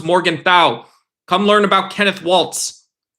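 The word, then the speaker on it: Morgenthau: Come learn who Hans Morgan thu is. That's not how you pronounce it. It's Hans Morgan thou.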